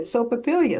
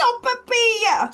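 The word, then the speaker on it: sopaipilla: Once I went out to lunch with a friend and she said, Sopapilia, Sopapilia, Sopapilia. Finally, I just snapped. I said, it's Sopapilia, Sopapilia.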